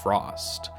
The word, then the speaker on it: Frost*: in the Wires by Frost. The asterisk is silent.